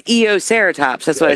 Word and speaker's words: Eoceratops: I can't even pronounce that. It's Eoceratops.